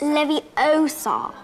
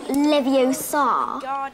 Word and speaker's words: Leviosa: those people were wrong you're saying it wrong it's Leviosa not Leviosa you do it and if